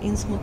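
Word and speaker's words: Innsmouth: И вот он получает задание, кстати, кто как называет, Инсмут или Инсмаут. Ну вот я когда читала лавкрафтовские рассказы, я читала в том переводе, где Инсмут. Соответственно, он, по-моему, тоже произносит Инсмут именно, не Маут.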